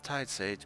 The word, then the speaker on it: Tidesage: nice they said that it is said like tide sage magical hours called around